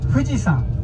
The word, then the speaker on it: Fuji-san: Please call me Fuji-san. Okay? Fuji-san. Same pronunciation. Fuji. Mount Fuji.